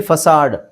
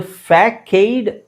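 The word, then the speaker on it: façade: ಹಿಂಗಿದೆ ಅಂತ ನನಗೂ ಗೊತ್ತಿಲ್ಲಎಫ್ಎಸಿಎಡಿಇದು ಫ್ಯಾಕೈಡ್ ಆಕ್ಚುಲಿ ಅದು ಅದರ ಉಚ್ಚಾರಣೆ ನೋಡಿದಾಗ ಫ್ಯಾಕೈಡ್ ಅಥವಾ ಫೇಕೈಡ್ ಅಂತ ಅನ್ಸಬಹುದು ಬಟ್ ಆಕ್ಚುಲಿ ಅದು ಉಚ್ಚಾರಣೆ ಫಸಾಡ್ ಫಸಾಡ್ ವಿಚಿತ್ರ ಅಂತ ಅನ್ಸುತ್ತೆ ಆ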